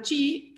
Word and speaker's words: chi: unos o 4 caras, vamos a llamar chi, que es la pronunciación, por lo menos porteña, de la letra griega, al conjunto de los,